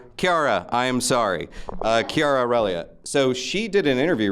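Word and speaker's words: Chiara Aurelia: is so one of your cast members uh Chara relia was saying K Kiara say I've not spoken to her so I got the pronunciation wrong Kiara I am sorry uh Kiara relia so she did an interview recently where she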